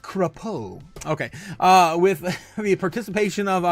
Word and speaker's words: Crapo: It's pronounced Crapo.